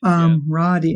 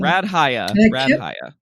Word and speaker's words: Radhia: They always want to throw that H everywhere. They always do. It's RAD, like rad. Radhia. Radhia.